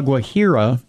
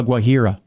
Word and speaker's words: Guajira: to talk, of the Colombian Department of La Guajira. Reports suggest that the six students fainted without warning and the parents of the children did not know the cause. Local media... Where did this take place? La Guajira.